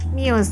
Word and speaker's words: Muse: lagu Unintended dari Muse itu bacanya Muse atau miuse itu mius miuse Oke ini dipesan dari dokter